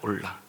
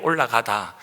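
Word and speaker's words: עולה: 우리가 읽었던 레위기 중에서 1장 1절부터 이제 9절까지의 말씀이이 번제에 대한 내용입니다.이 번제라는 것은 태오다라는 뜻인데요.이 히브리어 단어로는 이제 올라입니다. 올라. 그럼 이렇게도 우리말에 올라가다 거기에 이제 올라하고도 발음이 똑같습니다.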